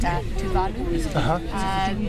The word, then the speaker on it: Tuvalu: Or it's correctly pronounced Tuvalu. They're a small island nation, and they suspended the talks the other day due to lack of good process.